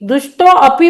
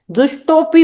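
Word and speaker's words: दुष्टोऽपि: चाहिए उसके बाद दुष्टोपि दुष्टो अपि पढ़ेंगे तो आपकी चाल ही नहीं जमेंगी इसमें दुष्टोपि पढ़ेंगे ये विग्रह अविग्रह जो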